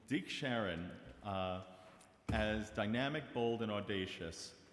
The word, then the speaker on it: Deke Sharon: Hailed by godfather of a cappella, how do you pronounce her name? Deke Sharon.